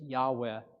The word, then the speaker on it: Yahweh: And this is usually described, translated by the phrase Yahweh is typically how it's said in English.